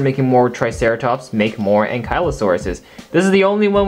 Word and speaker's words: Ankylosaurus: Now in the Indominus Rex versus Ankylosaurus review, I completely butchered this dinosaur's name. I kept saying Ankylosaurus. Or Ankylosaurus, I think I kept saying that. So, my bad. I realized my mistake, and the proper way to pronounce this is the Ankylosaurus.